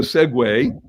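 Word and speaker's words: segue: going to just do a Segway s-e-g-u-e isn't that a great word we all use it but it's spelled s-e-g-u-e then into the Segway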